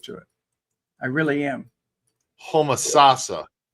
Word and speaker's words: Homosassa: Homosasa. Okay, Homosassa. Yeah, the stress is on the third syllable.